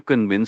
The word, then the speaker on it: convince: For pronunciation, convince is k v i n cs l a and spelling c o n v i n c e. The s at the end often trips people up.